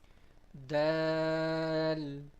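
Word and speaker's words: د: Dal, dal. When the tip of our tongue touches the gum line of the upper two front teeth, that is how we start to pronounce the sound of this letter.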